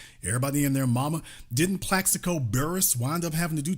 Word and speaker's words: Plaxico Burress: Plaxico Burress.